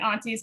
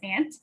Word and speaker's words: aunties: and i'm pronouncing it aunties because that's how they pronounce it on the audiobook i actually normally pronounce a-u-n-t as ant which i realize is not a massachusetts thing um but i mean